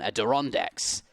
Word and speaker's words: Adirondacks: versus the Dutch on adirondacks you're supposed to say the R on adirondacks we're being told that's